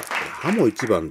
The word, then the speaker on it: 鱧一番: これネットで調べたら、ハモ一番と読むそうですね。